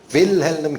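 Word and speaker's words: Wilhelm: 사실은 발음이 좀 어려워요. 윌헬름입니다. 윌헬름 게제니우스라는 분이 구약의 히브리어 언어 박사입니다.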